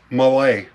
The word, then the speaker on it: Mallet: Malay maybe I don't I know I got the last part right cuz Google told me how to say it Malay it's derived from the frenchspeaking Swiss but Malay are articulated